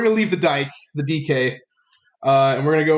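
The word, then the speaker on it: Dike: him but no daryl dykey uh he definitely looks like you're gonna say his name correctly dk oh daryl dk uh it looks like dyke man it does that's good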